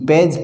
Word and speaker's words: page: अब इस जी के बाद में ई आ रहा है तो इस जी का उच्चारण क्या हुआ है, यहाँ पे जय हुआ है, पेज पेज यानी पृष्ठ।